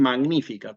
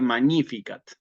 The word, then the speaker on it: Magnificat: que es el el algunos dicen magnífica no que eso sería pronunciación clásica en realidad sería magníficat sí Eh sí salve